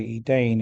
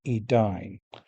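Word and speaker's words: Edain: They still say Celiborn instead of Kellibornne and they say Edane instead of Edine.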